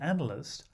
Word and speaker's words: analyst: with a voice test but analyze and analyst are stressed on the first syllable without wishing to exaggerate